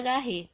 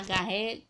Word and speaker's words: Garrett: da poesia de almeida garrett tá garré desculpa na pronúncia realmente né eu tô falando como se lê mas a pronúncia é diferente quem souber aí pronuncia